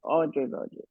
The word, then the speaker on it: Audre Lorde: So So today, Yasmin, you're going to tell us about uh, uh, Audre Lorde. Is that how you pronounce it? How do you yes, pronounce? Audre Yes, Lorde. Audre Lorde.